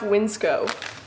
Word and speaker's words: WNCSCO: This company right here, it's pronounced Winsco.